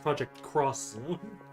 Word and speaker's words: Project X Zone: That's actually pronounced Project Cross Zone. Cross Zone. Yes. My bad. Yeah. That's the official title. Project Cross Zone. The cross symbolized as an X.